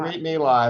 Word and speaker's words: Brit Milah: Brit Milah, it's also called, a lot of American Jews call it bris, which is another way of pronouncing it, is the ceremony where the foreskin is removed.